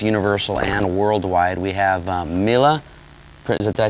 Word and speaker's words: Mille: We have Mille, did I say it right?